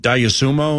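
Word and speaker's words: Dosunmu: But he's just, is it Diasumo? Is that how you say it? Yeah. Okay, so you got Diasumo who's hurt, bench guy.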